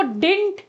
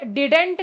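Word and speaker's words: didn't: ठीक है, अच्छा, इसको डिंट बोला जाता है, डिडेंट करके मत बोलना, डिंट होता है बेटा। ठीक है, क्या प्रोनाउंसिएशन बोल रहा है? डिंट, बस। बहुत से लोग इसको डी ड डिडेंट बोलते हैं, ये गलत होता है, ये सही प्रोनाउंसिएशन होता है इसका।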